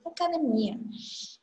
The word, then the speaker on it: academia: A pronúncia em português é academia. A parte forte é a parte mais forte de sua pronúncia. Só que em espanhol, sua pronúncia mais forte é o DE. Academia.